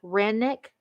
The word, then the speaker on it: Rennick: wilson edward griffin henry white evan lewis george rennick r e n r-e-n-n-i-c-k samuel young thomas farrell